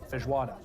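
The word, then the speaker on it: feijoada: So, if I'm not mistaken, the national dish is pronounced fijuada. Fijuada. I don't know. My Portuguese isn't great.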